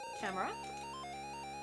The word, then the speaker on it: Camara: Camara. Like a camera.